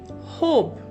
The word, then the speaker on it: hope: The silent E at the end has changed the sound of vowel O from shorter sound to the longer sound, from hop to hope.